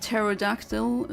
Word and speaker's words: pterodactyl: Like pterodactyl starts with a P, but no one pronounces the P.